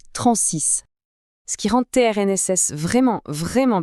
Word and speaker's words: TRNSYS: TRNSIS, à prononcer Transys.